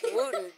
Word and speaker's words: Wootton: We want to thank our sponsor, the Wooten Financial Group, and that's spelled... Y'all don't laugh at that. That's the sponsor. It's the Wooten. It's Wooten.